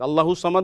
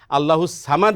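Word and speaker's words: الصمد: করা উচিত না তাহলে আমরা কোনটা বলবো সদ দিয়ে বলবো না সিন দিয়ে বলবো সদটা মোটা হবে হরফের উচ্চারণ আর সিনটা কি হবে পাতলা হবে একটু চিকন হবে লাম ইয়ালিদ ওয়ালাম ইউলাদ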